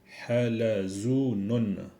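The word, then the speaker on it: حلزون: En arabe, on dit halazunun. Taouson, le pont. Zarafatun, la girafe. Ok? Halazunun. Pour le mot halazunun, ça s'écrit comme ça.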